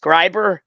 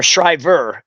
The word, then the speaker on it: Shriver: from, my understanding of my last name, I think it's pronounced Scriber or Scriber.